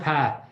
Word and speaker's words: Pa: It's short for, it's pronounced Pa.